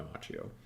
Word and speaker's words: Macchio: Everyone I know whose name is spelled that way, it's Machio, but I think he goes by Machio.